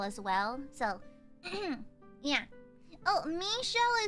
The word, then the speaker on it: Michel: Oh, Michelle is the French pronunciation of Michael, like the angel.